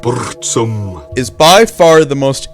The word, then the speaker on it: Burzum: out let's find out Burzum or as we're supposed to pronounce it bosom is by far the